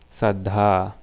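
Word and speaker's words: saddhā: So we have two A's, means it's a long sound, Saddha. So you don't say Saddha, ha is not separated, one syllable, Saddha, so that dha at the end.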